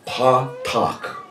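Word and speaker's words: פָּתַח: To loose is the Hebrew phrase patak. P-A, and the A's got that little triangle over top of it again. P-A-T-H-A-C-H. Patak.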